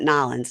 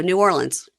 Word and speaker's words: New Orleans: yell at us okay so it's not nin nobody says that New Orleans yeah just go New Orleans okay just take a